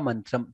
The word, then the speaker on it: मन्त्रम्: Shatruchhedaika mantram, cha mahaprana. Shatruchhedaika mantram, Shatruchhedaika mantram. Mantram to be pronounced very clearly. Ma, n, ta, ra and anuswara.